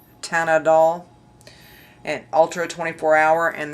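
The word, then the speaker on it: Teint Idole: She pronounced it Tanadol, and Ultra 24 Hour, and this comes in 18 shades, and it's listed as a full coverage foundation, and it's $44.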